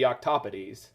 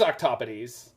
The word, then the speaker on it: octopodes: And if it is, in Latin, it should be octopodes. So I think most English speakers would say octopodes. Yeah, it is octopodes.